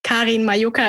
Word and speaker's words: Karin Majoka: i take the cake kareen mayuka is how you pronounce it but um but i